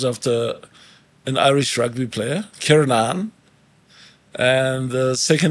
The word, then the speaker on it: Kiernan: But you pronounce it differently. You say Kiernan. It's Kiernan. It's Kiernan. Kier, like Kier with a R.